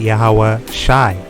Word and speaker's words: YAHAWASHI: sha this is i so you would pronounce it yahawah shy all right i like